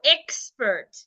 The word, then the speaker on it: expert: sound it means that the X here the X before the letter P should be sounded as c c c so if I want to pronounce this word I will go expert X xert expert expert let's take another example